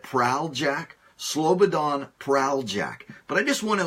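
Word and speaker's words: Slobodan Praljak: and pronounce it correctly it's Slobodan Slobodan prale jack i believe that's his closest that's as close to the correct pronunciation as I can get prowl Jack Slobodan prowl Jack but I just want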